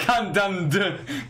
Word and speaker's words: Wakandan: Wakandan. God damn it. Yep. I don't know how the fuck it's pronounced.